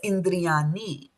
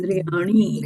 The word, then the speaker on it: इन्द्रियाणि: So this n with a dot is ana. So we will not say that not as indriani. This is indriani.